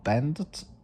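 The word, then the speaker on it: Bandt: In 193 in 1934, Ford Australia's uh designer uh Lou Bend, I can't pronounce it, but it's spelled B A N D. So, it's it's the word band and the letter T at the end.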